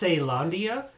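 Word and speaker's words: Caelondia: hammer it's it's pronounced it's weird because it's pronounced seylandia so technically it should be sail hammer unless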